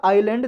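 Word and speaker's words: island: और आइलैंड का मतलब होता है हिंदी में द्वीप, आइलैंड का मतलब होता है ISLEND, एस इसमें साइलेंट होता है, आइलैंड द्वीप, जो चारों तरफ ऐसी भूमि जो चारों तरफ पानी से घिरी हुई हो, वो लैंड द्वीप।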